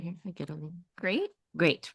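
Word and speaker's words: הגדולים: So say this whole syllable right here. Lim. Lim. So let's say the whole word. Hagedolim.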